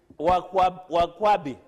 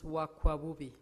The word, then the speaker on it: Wakwabubi: Wakwabi. It's Wakwabubi. Wakwakubi. As one of our... Say it correctly, it is Wakwabubi.